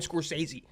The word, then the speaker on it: Scorsese: how to say Martin Scorsese. I just said his like I know how to spell it. I just say the SC more of like a G.